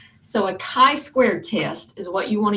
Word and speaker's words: chi-squared: We do a chi-squared, so this is pronounced kind of like K-I with a long I, not the CH sound that you might would think, but it's chi-squared test.